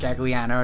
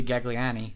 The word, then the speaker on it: Gagliano: Gagliano, I pronounced that correct? Correct. I was about to say Gagliani, but I don't know what I was going to say.